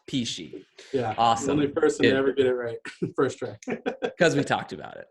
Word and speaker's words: Pechia: P she spelled PCH I a yes pronounced P she first cuz we talked about it Karen thanks